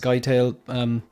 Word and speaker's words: Scytale: Scytale. It's so Robert Pattinson's character. So here's Duncan Idaho back. Robert Pattinson's character is called Scytale, but sometimes it's pronounced Skytail.